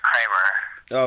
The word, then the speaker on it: Kramer: Okay, now is it Kramer? Am I pronouncing that right? Yeah, it's Kramer.